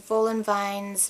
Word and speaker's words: Woolenwine: German, the V and W were pronounced differently, so and I know this for a fact because I've heard it.